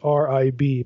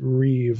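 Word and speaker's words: ריב: this is heber terminology the reeve that's rib but you pronounce it reeve like it's riv the reeve pattern reeve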